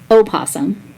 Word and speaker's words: opossum: Did you know that it's opossum, the O is silent, and the poor things are opossums.